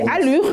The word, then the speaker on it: Alur: Oui, c'est alure. A L U R. Peut-être je prononce en français mais c'est alour ou allure